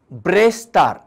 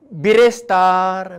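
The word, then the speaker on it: Brestar: उपरांत येता ब्रेस्तार बी आर ई एस टी ए आर. जायतो लोक बिरेस्तार बेरेस्तार अशे उच्चार करता. स्टँडर्ड उच्चार ब्रेस्तार.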